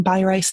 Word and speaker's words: Beireis: How She told me pronounce her name by Rice not pasta isn't that just great